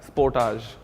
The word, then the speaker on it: Sportage: you and today to reviewing the all-new Kia Sportage that's how it's pronounced Porter's not very opposed to what he